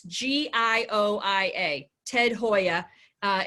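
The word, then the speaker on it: Gioia: gentleman named Ted now he pronounces it it's pronounced Hoya but it's GI IO I a Ted Hoya uh it's an amazing book called the history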